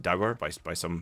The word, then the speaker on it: dour: You might hear the word pronounced dour normally by people from England. Is it spelt like sour? Well, Sour, Dour, it's how it's spelt, dour, but we would pronounce it dour.